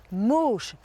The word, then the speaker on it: Moosch: en vieil allemand et ça se prononce avec 4 ou moche hein non pas facile à